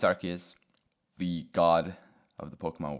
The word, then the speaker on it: Arceus: Personally, I pronounce it Arceus, but I don't think it really matters. I don't know which one is actually correct. But yeah, it's Arceus.